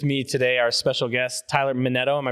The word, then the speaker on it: Minetto: I have with me today our special guest, Tyler Metto. Am I pronouncing it right?